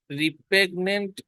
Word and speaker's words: repugnant: রি রিপ্রেগনেন্ট স্মেল, যদিও পি এর পরে ইউ আছে, রিপ্রেগনেন্ট এটা উচ্চারণ হবে।